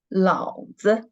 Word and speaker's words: 老子: When we read it 老子, the second syllable, when we read it the neutral tone, it means, it is a slang.